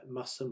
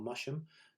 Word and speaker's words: Masham: So this picture was taken inside the church at Masham or Masham, depending on how you wish to pronounce it, and which is famous for being